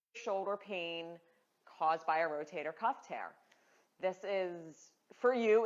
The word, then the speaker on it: rotator cuff: a pronounced rotator cuff we get a lot of Rotary Cup rotator Cup how do you say it it is rotator cuff C uff and it is comprised